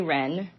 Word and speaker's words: Wrenn: So, I'm Penny Ren. Wr spelled like the bird but with two N's.